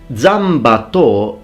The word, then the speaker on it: Zanbato: Now, Zanbato is the Japanese pronunciation of the three characters which in Chinese are pronounced Zhanmadao.